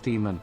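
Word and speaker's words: daemon: Actually, it's pronounced demon.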